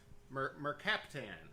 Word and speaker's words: mercaptan: Okay, it is called, and if I'm pronouncing this wrong, tell me, mercaptan. You got it, Todd.